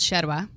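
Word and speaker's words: yerba: is called sherwa okay so it's y-e-r-b-a but with the Argentinian pronunciation you say the the y or the Double L double L's are shot right yeah it's kind of like in Spain the Caesar yeah exactly yes so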